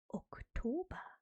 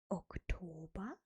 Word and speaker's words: Oktober: but October in German is pronounced Oktober. Oktober, Oktober.